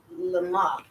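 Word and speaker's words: למה: with the mem and the patak, so it's lama, Lama. lama. Uh-huh. And then we have another lamet with a ah sound, the a, A. la. Okay, so let's try it again. The. La, ma, la, a, la, lay, Le.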